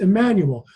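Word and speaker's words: Jmmanuel: Jemmanuel is pronounced Emmanuel. You don't pronounce the J.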